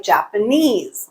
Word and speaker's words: Japanese: on the third syllable a word like Japanese okay they are the stresses on the last syllable but typically it will